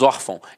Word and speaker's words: órfão: não é o caso nós falamos órfão então a sílaba tônica está na penúltima e é acento O